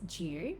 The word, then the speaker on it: due: So in words like due, new and tune, Australians often insert this Y sound after certain consonant sounds. So new becomes new. Do as in due date becomes due.